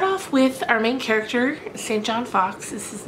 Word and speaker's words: St. John: I've also heard people pronounce it St. Jean Fox, but I'm going to call him St. John because that's how it's spelled, S-T period John.